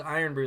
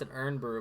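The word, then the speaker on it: Irn-Bru: had to try this errand earn brew it's pronounced iron brew they said but we're gonna pronounce an urn brew because we're Americans I mean love to pronounce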